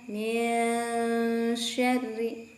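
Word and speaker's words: مِنْ شَرِّ: Saudara, jika ikhfa, hati-hati, tidak boleh ada jeda. Kalau saudara bilangnya min syarri, itu ada jeda. Tapi tolong perhatikan min syarri. Pada saat tempo itu huruf yang di depannya sudah mulai diucapkan.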